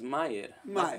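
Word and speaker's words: Meir: call um maya de his name is spelled m-e-i-r as maya not me you're surely mayor's m-a-y-e-r so that's mayor mayor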